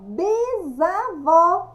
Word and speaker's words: bisavó: Bisavó, bisavó. Bisavó, escrita com S, pronúncia com Z.